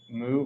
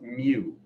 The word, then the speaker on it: mu: we use now uh moo where's move i don't know that one oh it's pronounced mew like um and mewtwo it's used all the